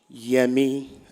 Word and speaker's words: Yemi: She wanted to learn how to say it in Nigerian, the Yoruba way. So I taught her how to say it. Yemi, as in Adeyemi, very tonal.